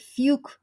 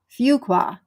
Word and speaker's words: Fuqua: nope uh laby Angel says I would have pronounced it fuke way but duk's fua School of Business says it's pronounced fua fua fuka F there Fuqua Fuqua that's what I said isn't it I